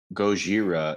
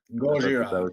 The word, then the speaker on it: Gojira: So the original movies, like obviously from Japan as well, the Gojira is like the Japanese translation of Godzilla.